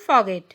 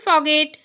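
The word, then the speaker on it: forget: ভুলে যাবে না, ডোন্ট ফরগেট। ভুলে যাবে না, ডোন্ট ফরগেট। এখানে আরের উচ্চারণ হবে না, সেই জন্য ফরগেট হবে।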